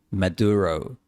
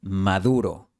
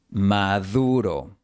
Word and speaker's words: Maduro: Ahora, la palabra maduro. No se pronuncia Maduro, sino Maduro. La D española aquí se pronuncia como la TH inglesa de mother, they o this. Maduro.